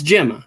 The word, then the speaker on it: Gemma: name Gemma or Gemma it's Gemma it's with a soft basically a soft wow um she she